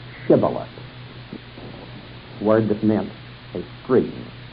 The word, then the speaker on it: Shibboleth: In other words, the same letter that was pronounced like the letter S in the northern kingdom of Israel was pronounced like SH in the kingdom of Judah.